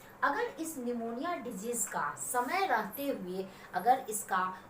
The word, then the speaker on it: pneumonia: जिसके बारे में पढेंगे निमोनिया निमोनिया में पीठ साइलेंट होता है निमोनिया एक बैक्टीरियल डिजिट